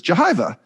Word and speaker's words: Jehyve: And then when I asked you before we started recording, you said it was Jehyve. And I said, well, that sounds a lot like Jehovah.